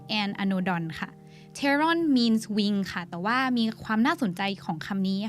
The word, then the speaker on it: pteron: ตัวที่นำมาให้ทุกคนรู้จักวันนี้ก็คือ Pteranodon มาจากสองคำค่ะ คือ pteron และ anodon ค่ะ Pteron means wing. Pteron แปลว่า ปีก ค่ะ แต่ว่าความน่าสนใจของคำนี้นะคะ อยู่ที่ มันสะกดด้วยตัว PT แต่เป็น P ที่ไม่ออกเสียง เลยออกแค่ตัว T ฉะนั้น P-T-E-R-O-N Pteron means wing.